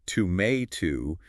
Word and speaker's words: tomato: that beautiful round day in American English it's to May to with a flatter a and Leisure British L